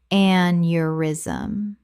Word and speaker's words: aneurysm: arthritis arthritis Word 64 aneurysm common mispronunciation aneurysm correct pronunciation aneurysm Three syllables. The e u makes a yuh sound.